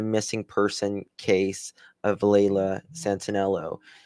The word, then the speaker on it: Santanello: However, members of the organized search did not locate any evidence tied to Santello. How am I saying it wrong? Santanello.